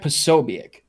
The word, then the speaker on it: Posobiec: So he's had Jack Posobiec, on his stream. Is that how you pronounce his name?